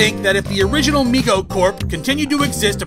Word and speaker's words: Mego: please tell me we're done with Meg oh it's pronounced Mego nerd and there's more